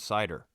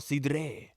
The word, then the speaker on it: cidre: of me cuz it's it's spelled c i d r e with a little uh how at the end of it CID that's what I said I was like oh Apple CED and she was like